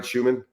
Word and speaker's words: Schuman: And once again, Coach Schuman, did I pronounce that right, Schuman?